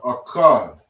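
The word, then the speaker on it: אחד: So you're connecting these two, connecting the ka and the da, and we say akkad.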